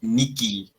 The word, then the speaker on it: nihil: o italia me siento es por eso lo pronunciamos nicky miki después siguen números número knox es noche